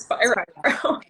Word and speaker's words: Spiro: Yes, it's Spiro. Yeah, it's they need a Geico Gecko device or something. Spiro. But yeah, it's Spiro, a spirograph.